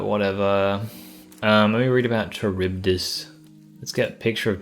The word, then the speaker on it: Charybdis: It's ka, not cha. Charybdis.